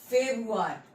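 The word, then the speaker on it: Februar: Next है फेब्रुअरी, फेब्रुअरी को हम कहते हैं फेब्रुआर, ठीक है, फेब्रुआर, ठीक है।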